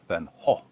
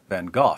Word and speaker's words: van Gogh: coke van ha or van Gogh depending on where you're from and how far you